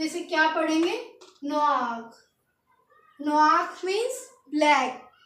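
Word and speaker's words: noir: एन ओ आई आर और ये हमारा इसकी pronouns and डब्लू ए आर तो इसे क्या पढ़ेंगे नक नक मींस ब्लैक ये जो लिखा हुआ है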